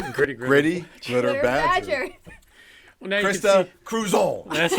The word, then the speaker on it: Krista: Well, now Krista Kruszon.